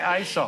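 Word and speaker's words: Aesop: that matter who is ESOP how do you spell it and do you say asop yes exactly no all right show is calls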